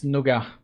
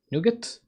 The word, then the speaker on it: nougat: Yeah, like that with the T at the end. Nougat.